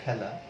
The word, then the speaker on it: খেলা: যেমন ধরো যেটি বলছিলাম, এই যে একটি আমাদের শব্দ খেলা, এটির শুরুতে আমরা দেখছি যে একটি এ কার আছে, কিন্তু এর উচ্চারণটা হবে এরকম, হয় জফলা আকার, অর্থাৎ এ ধ্বনির মতো উচ্চারিত হবে।